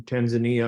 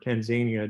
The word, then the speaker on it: Tanzania: some Medical classes in Tanzania or Tanzania depending on where you are and how you uh pronounce it so I'm really